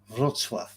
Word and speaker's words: Wrocław: It's pronounced Wrocław. Oh, is it? Wrocław.